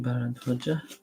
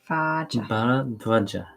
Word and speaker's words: Bharadwaja: Barad, Is it Bharadwaja? Barad, Bharadwaja. Vaja. Bharadwaja. Vaja. Bara? But it's a long A. Where? It's got a little line above it.